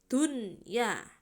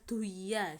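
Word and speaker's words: دنيا: Digandeng berarti harus dibacanya jelas ya, dunya, tidak boleh duya seperti itu ya.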